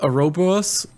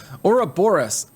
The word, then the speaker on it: Ouroboros: Ouroboros. Like Aurora Borealis? Ouroboros.